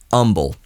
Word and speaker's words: Humble: are not from Houston you spell Umble h u m b e it is spelled humble but it's just a colloquialism locally that it's Umble that's how you can tell people from out of town it's the same anywhere